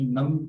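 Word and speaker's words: numb: नम, इसमें बी नहीं पढ़ेंगे और ऑप्शंस जो है इसमें भी सी जो है इसको बिल्कुल भी प्रोनाउंसिएशन नहीं आती।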